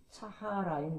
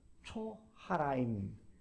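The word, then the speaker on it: צָהֳרַיִם: 초호라임 여기 보면 그냥 읽으면 차하림 같아요. 차하림 라임이면 차하라임 같아요. 여기도 차하라임 같은데 여기 보면은 하텝 카메츠 앞에 카메츠가 왔어요. 요거는 오로 발음한다. 개음절일 때는 다 아라고 말했는데 개음절이죠. 개음절임에도 불구하고 하탑 카메츠 바로 앞에 있는 요 아는 오로 그래서 초하라임 쪼하라임 이렇게 읽게 된다.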